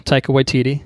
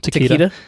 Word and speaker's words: Taika Waititi: looking forward to this yeah yeah small correction Taika Waititi is his name what'd I say put put some respect on it Takeda yeah and Rick family Uwe would be the